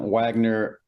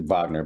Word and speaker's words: Wagner: I know a lot of people pronounce it Wagner, but it is with a W, so you have to pardon me on that.